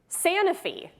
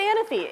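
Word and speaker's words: Sanofi: our next one okay please clap if you say sanify interesting that's what I say I say San I say sany is that the New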